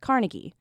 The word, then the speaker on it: Carnegie: The people in that town would have and still do pronounce it the way that Andrew Carnegie himself would have, the Scottish way.